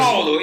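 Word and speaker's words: Everaldo: Heraldo. Yeah, I mean, you guys. Heraldo, you got to roll your tongue a little bit.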